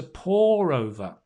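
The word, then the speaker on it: pore over: it's to pour over to pour p o r e to pour over the same as the same pronunciation as to to pour some water right into the cup different meaning but same pronunciation to pour over is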